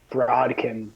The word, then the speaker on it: Brodkin: how do you say your last name broadcast b-r-o-d-k-i-n good deal all right man I was